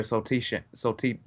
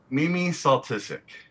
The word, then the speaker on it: Soltysik: I see, that's what I thought it was, because Kieran thought it was pronounced, the S was silent, so we thought it was Soltysik.